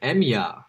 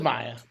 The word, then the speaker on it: Maya: Max, I'm wondering if maybe her name is pronounced Emya rather than Maya. No, it is Maya.